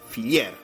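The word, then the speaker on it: fillér: reino de Hungría donde el heller era llamado filier que básicamente era la pronunciación húngara de la palabra heller acá tienen la de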